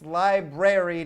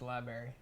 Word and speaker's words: library: flat number four uh it's Library not Berry I hate it well people call it Li Library so who says liary Library people say it like when you talk to people you go library and I go you don't belong in a library you don't say it right cuz you don't read